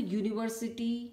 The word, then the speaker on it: university: So in these words, we will see that all the university, union, European, they are starting with a vowel, but they are pronounced as consonant.